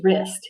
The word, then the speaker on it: wrist: so the word is wrist here is my wrist okay same here we have that w r digraph the w is silent we have an i